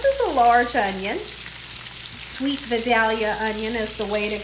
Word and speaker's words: Vidalia: Sweet Vidalia onion is the way to go. I know I have someone that always likes to correct the way I say Vidalia.